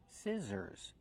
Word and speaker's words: scissors: do we pronounce scissors we use a short is sound like this is s s scissors the middle consonant is the z sound like zebra make the voice Z scissors plus the r sound